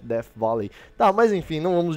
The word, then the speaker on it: Death Valley: Eu acho que pronunciei certo, quando tem TH aí, tá, equivale ao som de F, Death Valley.